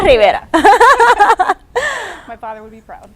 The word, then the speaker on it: Rivera: And I'm sorry that I stuttered there, but because it rhymes with Vieira, it was like Sandra Vieira. No, Sandra Rivera.